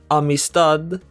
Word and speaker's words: amistad: If the a sound isn't stressed, then we use la, like in the word amistad. Amistad. The last syllable is stressed.